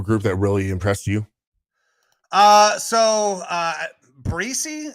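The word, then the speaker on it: Bresee: Breesy is how you say his name? Brian Breesy, I want to say. Bresay. I believe is what I've heard his name pronounced as. I can't say for sure, though.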